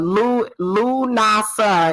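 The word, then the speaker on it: Lughnasadh: the holiday is centered around okay and uh lu nasa is how you pronounce lanasa l-u-g-h-n-a-s-a-d-h okay so le is old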